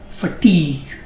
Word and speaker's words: fatigue: I guess you know the meaning of the word fatigue, very great tiredness, exhaustion.